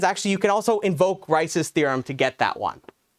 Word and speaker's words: Rice's: is rice's theorem so think of it the way it's spelled it's just like rice the food uh rice's theorem but